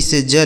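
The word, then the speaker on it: siege: एस आई ई जी ई, तो यस से हो गया दोस्तों स, इस आई और ई का उच्चारण बड़ी की मात्रा, जी ई से ज लिखा गया सीज, ठीक है, इसे पढ़ेंगे सीज।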